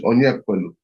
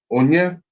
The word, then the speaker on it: Onyekwelu: I say, my name is Onyekwelu. So it's Onyekwelu. Easy, 3 syllables.